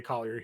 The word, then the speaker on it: Collier: a trible double on the way for Isaiah klier here $6,200 the prices up again a little bit but I would imagine we'd run right back to the well with Isaiah Collier here yeah we've said it right he had